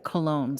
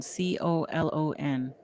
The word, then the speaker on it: Colon: colon on facebook and i kki cologne c-o-l-o-n oh man i've been mispronouncing your last name this whole yeah colon i've always been saying gee i can i